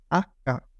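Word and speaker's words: acca: इस तरह यह अका एच को हम पढ़ेंगे आका उसके बाद नेक्स्ट जो हमारे पास वर्ड है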